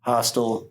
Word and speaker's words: Hostel: Hostel. Yep. And that's how you say it, by the way. It's called Hostel, not Hostel. Who the fuck would ever say Hostel?